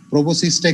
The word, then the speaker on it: proboscis: এই এসটা অনেকে বাদ দিয়ে দেয়, PROBOSCIS, এসটা কিন্তু থাকবে, PROBOSCIS উচ্চারণ প্রোবোসিস, এস এর উচ্চারণ নাই কিন্তু লেখার সময় এসটা থাকবে।